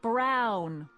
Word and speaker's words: Brown: bill to a tee that's Emmett Brown rhymes with clown which I'm beginning to